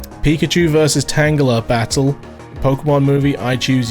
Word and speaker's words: Tangela: Tangela?